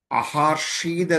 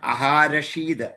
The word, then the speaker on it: അഹാരഷീത്: അഹാർഷീത് എന്ന് ചുരുക്കിയും പറയാം. അഹാരഷീത് അതാണ് ശരിയായ ഉച്ചാരണം.